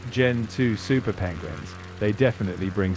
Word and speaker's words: Gentoo: Yeah, it's Gen 2, but it's spelled Gentoo, not Generation 2.